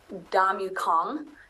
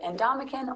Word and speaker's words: Ndamukong: Probably the weirdest, because it's Ndamukong. Mm-hmm. So it's probably I've heard in Ndamukong. A lot of people say with a Kong at the end of it is uh-huh.